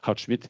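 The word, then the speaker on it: Goudsmit: C'est Uhlenbeck et Houtsmit, ou Houtsmit, je devrais dire si je prononce mon néerlandais correctement, Houtsmit, qui publie la même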